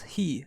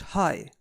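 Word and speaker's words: ひ: This kanji is pronounced as he and not as the English hi.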